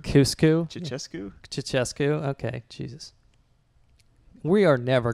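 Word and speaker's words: Ceaușescu: Did you just say Cuscu? Cuscu? Ceausescu? Ceausescu.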